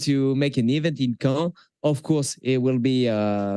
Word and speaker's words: Caen: So yes, like you say, it's Caen. So well done for the pronunciation.